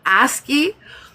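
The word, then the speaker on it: ASCII: Aski. ASI. My brain can't allow that word. Asky.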